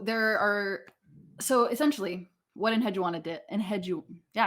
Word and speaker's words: Enheduanna: cool um so there are so essentially what in hedgewanna did and had you yeah i said it